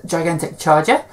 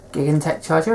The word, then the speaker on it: Gigantech Charger: Going over to the commons, the first of which I've picked is a grade 3, which is Gigantic Charger, or Gigantech Charger if you want to pronounce it weirdly.